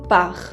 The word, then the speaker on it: part: Pour il ou elle, se le agrega una T, un T. Il ou elle part, y no se pronuncia.